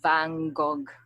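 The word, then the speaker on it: van Gogh: Vang Bango yeah because my boyfriend is French so he he told me that it's not pronounced that way vano it's not pronounced as vano it's not pronounced it's like vangog something like that the one who did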